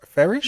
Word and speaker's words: Farish: Oh, I butchered your last name. Farish. No, Farish? you got it.